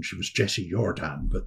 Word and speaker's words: Jordan: And the husband, Fritz Jordan, she was not really actually Jessie Jordan, she was Jessie Jordan, but that's the correct pronunciation. But it's become Anglified, if you like, because she was in Scotland.